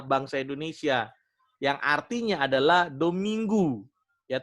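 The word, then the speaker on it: Domingo: Indonesia yang artinya adalah dominggu ya tulisannya dominggo tulisannya dominggo tapi dibacanya dominggu yang artinya hari Tuhan makanya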